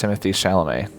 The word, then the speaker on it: Timothée Chalamet: I'm pretty sure it's Timothée Chalamet.